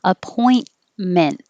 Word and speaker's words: appointment: Appointment. And that's why when I connect it to a vowel, you won't hear the T at all.